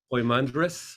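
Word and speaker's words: Poimandres: piemander uh or pimander it really is poemander poymandress in in if you spell it in in greek is a poi uh hi omicron iota so that's poi right like point so if you remember point point mander it's very simple so so um so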